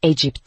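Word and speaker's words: Egypt: Mısır Egipt diye bilinirdi. Egip diye okunur.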